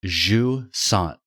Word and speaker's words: Jusant: it is actually pronounced Jusant. And Jusant. Jusant. Yeah, like the S sound and measure, and just Jusant. and then essentially Jusant. take the T off at the end.